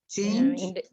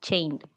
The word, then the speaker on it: change: It's not an N. It's change.